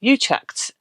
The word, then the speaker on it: Utrecht: We're heading to Utrecht, I believe is the English pronunciation of it.